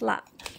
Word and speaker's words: laab: This dish is pronounced laap.